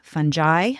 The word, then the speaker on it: fungi: it turns out that the pronunciation really just varies based on what part of the world you live in. So pretty much anyway you say it, you're probably fine.